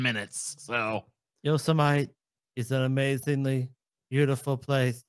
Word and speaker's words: Yosemite: This is just the dude mispronouncing. He called Yosemite National Park Yosemite for like 7 minutes. So Yosemite is an amazingly beautiful place.